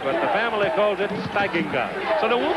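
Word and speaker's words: Steigenga: it I'm sure but the family calls it Singa so they we'll call it Singa pass got away in the corner and the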